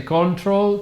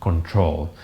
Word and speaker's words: control: You pronounce exam. Correct. And another one. Control. All right. Please don't say control. Please don't say correct. And please don't say exam. So again, correct, exam, control.